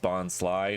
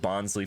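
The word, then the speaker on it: Bonsly: way i realized that the box pronounced bond sly not bonsali because it's supposed to be a sly bonsai didn't learn that until recently i was pronouncing it bonsley for the longest time anyway i think the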